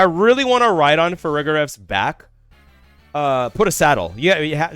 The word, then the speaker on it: Farigiraf: I think it's Farigiraf. Is it Farigiraf, chat? The other one I pronounce is Girafarig.